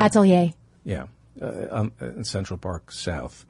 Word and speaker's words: atelier: How do you pronounce it? Atelier.